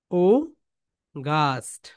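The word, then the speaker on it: August: ও, ও, উগাস্ট, বলো উগাস্ট, British sound oh, ও, গাস্ট, British sound কি বলতো, ওগাস্ট, উগাস্ট, উগাস্ট, ব্রিটিশ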